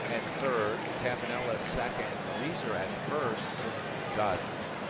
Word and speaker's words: Reiser: Reiser is 1 for 3, and that's one of those names that I've been mispronouncing for years and years and years, until I learned that it's pronounced Reiser, not Reiser.